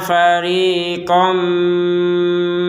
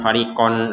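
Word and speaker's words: فريقا: dimasukkan kepada huruf mim sehingga kita membacanya fariqom minhum kom Jadi Kom bukan farion lagi farion itu kan jelas kalau farion nah sekarang dari yang fariqon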